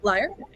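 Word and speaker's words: lyre: be uh playing uh the liar is that how you pronounce it yep liar I'll be uh playing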